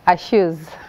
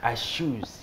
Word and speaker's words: Ashus: And for your dessert table, I have the CEO and founder of Ashus Cakes and Pastries. Karibu sana. Asante sana. Did I pronounce the first part correctly? Kind of. Ashus. Ashus.